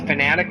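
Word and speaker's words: Fanatec: I'm actually using a Fanatic wheel. It's spelled F-A-N-A-T-E-C.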